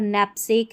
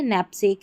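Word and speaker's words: knapsack: यहां पर नेपसेक है। ठीक है? नेपसेक है और यह नेल्ट है। यहां पर सभी में जो है के साइलेंट है।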